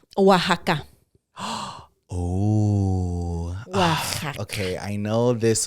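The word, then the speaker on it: Oaxaca: or something like that oaka yeah but it's pronounced Waka right I don't know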